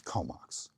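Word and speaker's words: K'ómoks: It's spelled differently but it's Komox.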